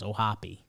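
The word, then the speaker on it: O'Hoppe: baiting james into that that's what the pronunciation says and that's what i thought it was ohapi well he i was when this broke uh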